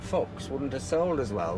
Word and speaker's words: Fuchs: How do you spell it? F-U-C-H-S, Oh, Fuchs.